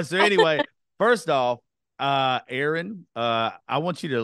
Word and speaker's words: Aaryn: I'm glad to know your name's Aaron not Aryan yeah so it's pronounced Aaron and the funny thing